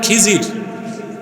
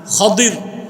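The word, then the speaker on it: خضر: খাদির তো বুঝেন নাই, যাকে আপনারা বলেন খিজির, ওনার নামটা কি? খাদির, বিফাতহিল খা ওয়া কাসরিদ দাদ, খাদির। আমরা বলি খিজির, এটা ভুল উচ্চারণ, শুদ্ধ উচ্চারণ কি? খাদির।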